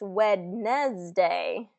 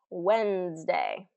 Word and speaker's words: Wednesday: It's not pronounced Wednesday. It's pronounced Wednesday.